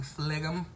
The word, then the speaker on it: phlegm: One of my friends said that she pronounces the G in the word just to break it up, and I do that too. Phlegm.